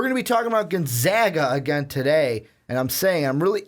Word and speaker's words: Gonzaga: I think everyone just gets into it's Gonzaga. That's it. Gonzaga. Gonzaga. That's what I kept saying. It's Gonzaga. Yeah, you were not saying Gonzaga. You know what? You don't even know how you said it wrong. I couldn't think about the wrong way. The basic point is that we're saying it right, but let's dive into the conversation.